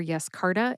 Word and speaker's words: Yescarta: In the show notes, you will find the written pronunciations for Yescarta and axicabtagene SYE-loe-LOO-sel, links to my sources, links